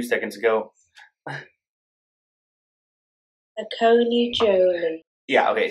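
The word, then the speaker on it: Saccone-Joly: Saccone Joly. Yeah, okay, Saccone Joly.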